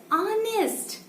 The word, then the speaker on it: honest: is silent in this word so how to pronounce this word it's honest ah so air is coming out without friction